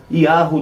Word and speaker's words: Yahu: Assim, um outro detalhe, aqui a pronúncia Yahu, tem aqui, notem um acento circunflexo, Yahu, não é? E dá uma extensãozinha, não é? Yahu. É assim que nós devemos invocar ao entrar nos